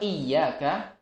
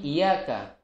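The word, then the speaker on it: إِيَّاكَ: iya dadah nah Mundu yang seharusnya bertasydid padaku rupiah Iyakah yang bermakna adalah kepadamulah Ya Allah kami menyembah ada sebagian orang yang membacanya dengan menghilangkan pas hidupnya ya menghilangkan rotinya menjadi ia akan ia cara wudhu ini juga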